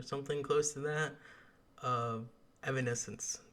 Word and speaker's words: Evanescence: close to that of evanescence the name I have pronounced wrong for 13 years because I've always called it Evans sense anyway let's continue um